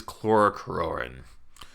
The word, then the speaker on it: chlorocruorin: Let's talk now about green blood, and this is chlorocruorin. Or, man, this is always a hard one for me to pronounce. You just think of this, rorin. This is rorin. Chlorocruorin. Rorin. Okay. Chlorocruorin.